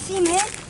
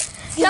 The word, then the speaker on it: cement: Get semen? Semen? Is that really how you say it? Cement. Sound like you just said semen. Semen. It's cement. Cement.